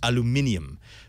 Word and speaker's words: aluminium: Oh, and by the way, I'm being reminded in the chat room that if I had class, it would be pronounced aluminium.